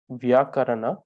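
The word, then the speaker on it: vyākaraṇa: discipline of grammatical system known as the vyakran so normally pronounced as uh vyakarana in tibetan so he studied most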